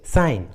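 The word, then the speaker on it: sign: जैसे साइन, अलाइन, देखिए दोनों इंग्लिश वर्ड्स में जी एन के पहले आया है, इसलिए जी साइलेंट है, जी का उच्चारण नहीं किया गया।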